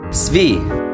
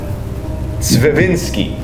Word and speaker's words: Tsvirinko: T as in Tsvirinko. Can you say it with us? Tsvirinko.